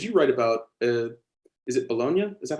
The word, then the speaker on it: Bologna: think of, because you write about, is it Bologna? Is that how it's pronounced?